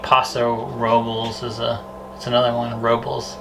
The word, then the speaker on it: Robles: Robles, not Robles.